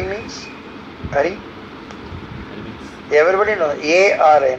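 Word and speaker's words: अरि: So hear the mantra attentively, pronounce properly and hear them attentively. Arisadvargam. Arisadvargam means? Ari means? Ari?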